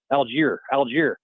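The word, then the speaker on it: Allgeier: There's a lot of issues involved in the running game, but having Bijan Robinson and Aguilar, how do you pronounce his name? Algier. Tyler Algier.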